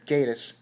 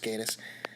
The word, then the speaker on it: Gatiss: this was written by Mark Gatiss or Gatiss yeah I'm pretty sure it's pronounced Gaydos and I've come to some